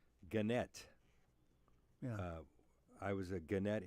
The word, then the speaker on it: Gannett: By the way, I need to give you credit for correctly pronouncing Gannett.